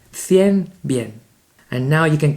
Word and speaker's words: cien: And then we get to 100, which rhymes with bien. Cien, bien.